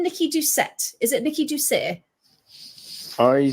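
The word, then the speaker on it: Doucet: I think it's I' I'd always pronounce it Ducay. Ducet. Okay. My French background. It might it might be Ducet because she's American and they pronounce stuff weird.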